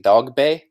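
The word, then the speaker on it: Dogboe: Now they're all pronouncing it Dogbe. I guess that's the correct pronunciation, even though it's spelled Dogbo.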